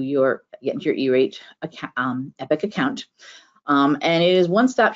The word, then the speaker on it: EPC: EPIC is how that's pronounced. EPC is actually pronounced EPIC.